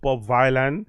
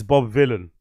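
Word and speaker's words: Bob Vylan: people making it very clear that it's not Bob Violin, it's Bob Villain. Villain rhymes with Dylan, right?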